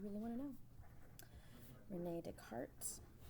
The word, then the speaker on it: Descartes: Rene Descartes. I know what it looks like it says in English. It's not how you pronounce it. In French, he was French.